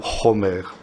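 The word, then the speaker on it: חומר: Et vous avez un mot proche du mot chamor, en hébreu, c'est le mot chomer. Ça s'écrit exactement de la même manière, ça se prononce simplement un tout petit peu différemment.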